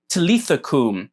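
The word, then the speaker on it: talitha kum: the only difference is that the a sound that you see at the beginning of the word teletha ends up disappearing in the syriac version of this word so in syriac it's pronounced talithakum instead of talithakum so there's a slight difference in pronunciation but it means the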